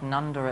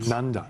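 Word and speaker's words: Nundah: I really like Nunda at the moment. Nunda? Yes. How do you spell that?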